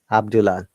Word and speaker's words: Abdullah: Abdullah, occupied, fully funded, illegal, illogical.